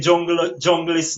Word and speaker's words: Junglyst: Up a yeah, jungle, yeah, junglist, exactly.